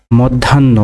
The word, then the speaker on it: মধ্যাহ্ন: পর্যন্ত, পর্যন্ত এর সঠিক উচ্চারণের বানান হবে পৌকার রয় হসন্ত বর্গীয় জওকার দন্ত নয় হসন্ত তওকার, পর্যন্ত। মধ্যাহ্ন, মধ্যাহ্ন মৌকা দয় হসন্ত ধয়াকার দন্ত নয় হসন্ত হকার, মধ্যাহ্ন।